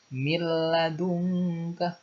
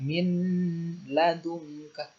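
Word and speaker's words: مِن لَدُنكَ: Miladungka tidak boleh dibaca min ladungka, harus langsung masuk ke lam.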